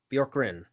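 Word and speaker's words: Bjorkgren: uh the pacers fire head coach nate bjorgrin bjork wrin that's how you pronounce his name hey man they weren't they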